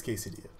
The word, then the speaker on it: quesadilla: said that cartoon yeah it's Spanish the L sounds like a y know though there was